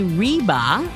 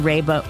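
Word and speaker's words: Reba: is that she said don't call me reeba like Reva McIntyre cuz that's ruined the pronunciation of my name so I have always remembered that so um again Raba welcome we always like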